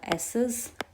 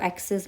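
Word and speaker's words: ecesis: सबसे पहले इसमें आएगा माइग्रेशन, देन आएगा एसेस। इसको एक्सेस मत पढ़ना, सी जो है यहाँ पे साइलेंट है, सो इट्स एसेस।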